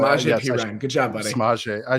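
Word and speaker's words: Samaje Perine: Samaje Pirine.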